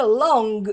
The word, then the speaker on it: long: I Long To Be atenção que pronúncia da palavra long a última sílaba ela termina bem aqui na garganta long in your house I